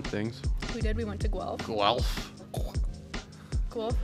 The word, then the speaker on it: Guelph: Guelph is like, the name is spelt like how you would react when you get to Guelph.